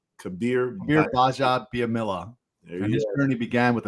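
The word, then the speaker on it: Kabir Bajabiamila: Kabir Baja, the G is silent. Baja Biamila. Kabir Baja Biamila.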